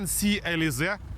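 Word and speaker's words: C-Elysée: тут із однією своїх новинок яка називається Citroen Sea elize французи дуже просили аби ми коректно вимовляли цю назву це дуже важливо в будь-якому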